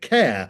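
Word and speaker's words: Kerr: You'd think it was Kurr, but apparently he always used to pronounce it care, which is kind of weird the way it's spelled, but anyway, I say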